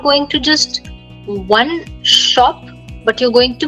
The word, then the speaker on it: aux: A plus les becomes O with an X, but we don't pronounce it.